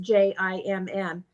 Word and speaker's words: Djinn: and it came back and it said Djinn, and we put in there pronounced Jimm, and Djinn is what we wrote down off to the side.